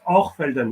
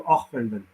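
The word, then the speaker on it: Hochfelden: when you are Zan because they pronounce the CH as an R so it's or felden if you go there they'll tell you Oren but it spes Elden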